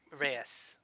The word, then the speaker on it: Reyes: Nope, I was just looking at JP found the pronunciation guide for Luca Reyes. Reyes.